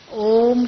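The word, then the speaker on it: ॐ: इसीलिए आपको पहला ही शब्द क्या उच्चारण करवाया, ओम शांति। ओम शांति का अर्थ क्या है? ओम शब्द में 3 अक्षर आते हैं, अ, उ और म, है ना।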